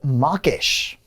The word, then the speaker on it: mawkish: next up it's mawkish now this sounds like I mean if someone just said it you would think to mock someone to make fun of them so if your mawkish you're mocking someone but this word is actually spelled and aw okay so it's not the same as mocking someone to be mawkish it's